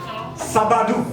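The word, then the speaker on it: sábado: Sabat dou. Et ça s'écrit la même chose.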